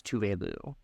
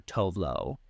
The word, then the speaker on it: Tove Lo: saying like, yeah, no, because of the accent from where she's from, that's how it's pronounced. She also doesn't care if people call her Tove Lo, just because that's how it's spelt, right?